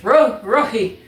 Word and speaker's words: Roji: It's Muyo and Roji. I almost went Spanish. Roji.